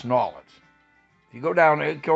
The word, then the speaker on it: New Orleans: You want to say New Orleans, you can say New Orleans, but it's people down there go Nawlins.